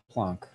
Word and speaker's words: Planck: max i'm sorry um plonk i keep pronouncing it plank but it's the planck's constant right this is our constant